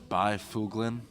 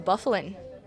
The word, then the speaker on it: Byfuglien: from Minnesota so American Dustin by foolin yeah you think but it's actually Dustin Byfuglien Wow now we got